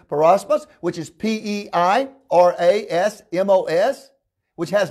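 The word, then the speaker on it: πειρασμός: The Greek word is, I'll spell it to you, it's peirasmos, which is P-E-I-R-A-S-M-O-S, which has not yet to come, right?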